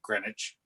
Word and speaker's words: Greenwich: Dutch and then British so they pronouned grenwich so we do yeah like putam County